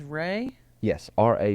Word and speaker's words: RA Publishing: and people enjoy it the publisher is Ray yes ra publishing it's kind of a